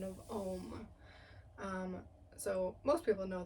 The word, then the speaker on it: om: people don't realize that it actually has three syllables kind of like an A A U and an m and you can feel